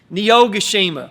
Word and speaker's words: Niyogoshima: Niyogoshima. Niyogoshima.